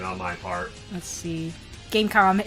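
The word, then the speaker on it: Game.com: Gamecom is pronounced without the dot. I see. Gamecom.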